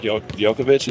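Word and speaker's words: Djokovic: I actually saw a quote from um Novak yovic that's how you say his name and he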